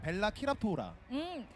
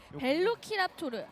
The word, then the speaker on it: 벨로키랍토르: 맞나요 이거 발음이? 안 할래. 난폭한 벨로키랍토르가 등장하는 벨라키랍토르라. 벨로키랍토르.